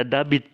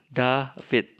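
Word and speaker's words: Δαβίδ: Yota realta grafit ya Ada mungkin orang akan membaca debit tapi itu pembacaan seperti itu pembacaan yang keliru hanya karena mirip dengan huruf b tidak berarti bahwa huruf ini dibaca b-ok transportasinya ide Oke David tapinya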